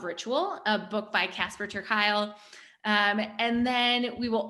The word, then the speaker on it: Kuile: the power of ritual a book by casper kyle um and then we will also share that's